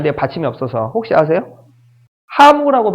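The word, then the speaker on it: ハム: 하무라고 발음합니다.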